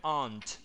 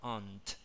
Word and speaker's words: aunt: Pero casi siempre, no, no casi siempre, pero cuando puedas, el sonido de una consonante como la T, si está sola, pronunciala. Como un ejemplo, aunt.